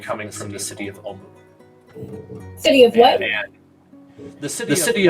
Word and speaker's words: Omu: He said that he believes it may have something to do with the legend of Omu.